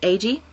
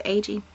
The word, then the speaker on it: Agee: Keith Agee, I think that's how you say his name. It's A-G-E, but he's been on Ghostly Talk, and I believe he's Agee.